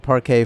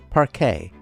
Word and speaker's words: parquet: Crystal chandeliers illuminate its opulent design, complemented by silk-draped walls and parquet floors. Don't even think of telling me I pronounced that incorrectly. You know that's how you say it. Parquet.